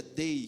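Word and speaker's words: δεῖ: No original Gideão, essa palavra significa dei, se escreve, aliás, se pronuncia dei, que vem lá do grego.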